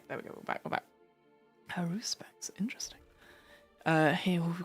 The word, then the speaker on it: Haruspex: Haruspex. Haruspex. Okay. Oh, my mouse is slowly dying. Okay, there we go. We're back. Haruspex.